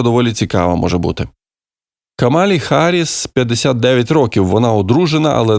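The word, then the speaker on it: Harris: цікава може бути камалі харіс 59 років Вона одружена але не має своїх дітей і до речі Олег Шарп пише що фонетично вимовляється не Гаріс а харіс і тут ми йому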